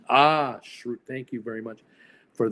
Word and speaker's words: Schrute: Dwight's last name is pronounced Schrute. Schrute.